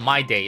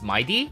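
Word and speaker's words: Mydei: First off is uh It's not my day. It's not It's up. It's up. It's not Midday, but it's not my day or may or mayday. It's mighty. I think that's how it's pronounced.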